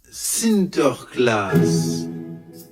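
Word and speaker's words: Sinterklaas: des cadeaux aux enfants au Pays-Bas Saint-Nicolas se prononce sinter class et lorsque les Néerlandais traversent l'Atlantique au 17e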